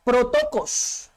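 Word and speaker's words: πρωτότοκος: Esto viene de la palabra protokos, así significa, así se pronuncia.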